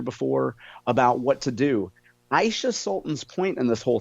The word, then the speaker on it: Aisha: From the Post-Dispatch, Aisha Sultan. And most people mispronounce her name, Brad. If you listen to the Post-Dispatch propaganda, they actually call her Aisha, not Aisha.